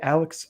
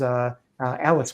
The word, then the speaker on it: Alice: But I'm here to tell you, Alex Krige, I'm saying your name wrong, is Alice Krige, absolutely carries this film.